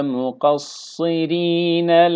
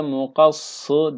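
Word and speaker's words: مُقَصِّرِينَ: Ruusekum ve muqassirine la tehafun. Ve muqassi ve muqassı değil. İ arası bir ses.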